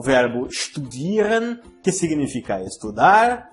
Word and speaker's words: studieren: O verbo studieren, que significa estudar. Note aqui neste verbo que a letra S não é pronunciada como S, e sim como SH. Studieren, não estudieren.